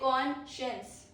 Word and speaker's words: conscience: Pro tip is SC blends into SH sound. It blends into SH sound, like we say conscience.